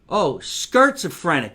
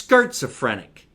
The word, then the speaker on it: Skirtsophrenic: being an entertainer because schizophrenic. I said it wrong. Holy shit. I said schizophrenic. Let's go back, shall we? I fucked up the commercial. It's skirtsophrenic because she makes skirts.